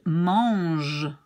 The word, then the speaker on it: mange: And how do we pronounce this G? Well, we pronounce it like J, like treasure, J, treasure, gentil, givre, and mange.